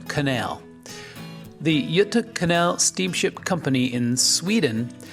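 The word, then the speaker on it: Göta: company and this fascinating Canal system the correct pronunciation is y Canal the Yuta Canal steamship company in Sweden has a long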